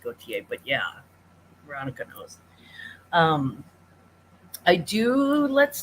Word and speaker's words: Gaultier: It's actually pronounced Gaultier, but yeah, Veronica knows.